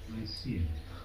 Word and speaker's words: Nicaea: Nicaea. Yeah, it's Nicaea in English.